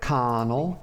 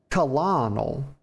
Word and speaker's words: Colonel: How about you go do it, Connell? Honor, friend. Actually, that's not even how to pronounce that. It's Colonel.